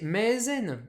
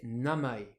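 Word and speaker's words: 名前: le nom le prénom ce mot on aimerait bien le prononcer maisen en lecture sinon japonaise mais non on va le prononcer namai tout en lecture purement japonaise pourquoi pourquoi parce que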